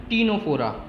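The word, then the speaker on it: Ctenophora: आगे देखते हैं, फाइलम टीनोफोरा, यहाँ पे भी सी साइलेंट है, इसको हम दूसरा नाम बोलते हैं कॉम जेलीज और सी वॉलनट्स, ठीक है।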